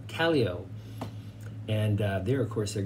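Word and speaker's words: Callao: to make it to Cali oh I was saying it wrong they say it rhymes with Tally Ho Kelly OH and there of course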